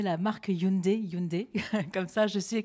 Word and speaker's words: Hyundai: effectivement alors déjà pour démarrer on va tous prononcer la marque Hyundai Hyundai comme ça je sais que pardon pas